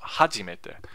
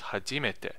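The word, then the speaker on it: 初めて: So I color that orange because it's not heiban, it's not flat, but it's also not the first accent, which I forget the name of that actually. So it's not hajimete, it's hajimete.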